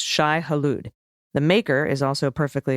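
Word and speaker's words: Shai-Hulud: try and it's closer than you might think Shai Hollywood is pronounced Shai haloud the maker is also perfectly acceptable bless the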